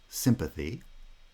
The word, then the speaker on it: sympathy: Words that fill these examples are like sympathy. Right? Sympa is a foot. Thi. Sympathy. Citizen. Citizen. Sida is the foot, followed by zun. Now, sympathy, that final syllable, thi, you might notice is not usually pronounced with schwa. I won't go into the details today, but the word final position kind of protects the pronunciation of that vowel.